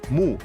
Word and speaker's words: mu: Por ejemplo, para escribir año, que se pronunciaba mu en sumerio, se utilizó el signo de planta, que también se pronunciaba mu.